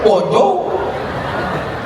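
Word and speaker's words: bonjour: Emangnya bahasa Prancis mudah tulisannya bon Jur bacanya bonjou bonir bon jangan belajari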